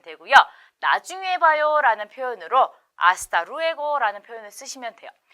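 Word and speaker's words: hasta: 때문에 발음을 하지 않고 하스가 아니라 아스타로 발음을 해야 돼요 그래서 아스타로 해고 나중에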